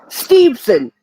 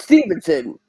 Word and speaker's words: Steveson: like that Chad Gables steveson not Stevenson there's no way no